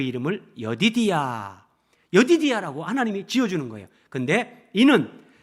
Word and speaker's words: 여디디야: 애칭을 지어주는데 그 이름을 여디디야 여디디아라고 하나님이 지어주는 거예요 근데이는 여호와께서 사랑하셨기 때문이다 여디디야 이게 히브리어 원래 발음으로 하면 예디 대야 이런 말인데 여호와의 가장 사랑하는